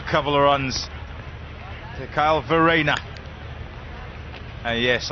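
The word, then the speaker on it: Verreynne: of runs the Kyle Farina and yes I did find out how you say it I've been instructed his name is Verena come on boys and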